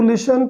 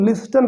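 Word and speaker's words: listen: सुनने, लिसन मतलब सुनना, इसको हम पढ़ेंगे लिसन, ठीक है। इसको कुछ लोग लिस्टन पढ़ते हैं, वो गलत है, टी साइलेंट है, ठीक है। लिस्टन नहीं होता, लिशन होता है।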